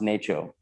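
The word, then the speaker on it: NACCHO: city health officials and that's pronounced nato the background on this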